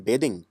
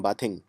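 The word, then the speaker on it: bathing: verb है बेद तो कभी ये मत बोलना आई एम बाथिंग नहीं आई एम बेदिंग आई एम बेदिंग हां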